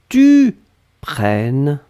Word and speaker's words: prennes: je prenne eux que tu prennes e s donc on est d'accord qu'on n'entend pas le s mais si vous voulez écrire correctement vous devez écrire avec le s à la fin pnn e s après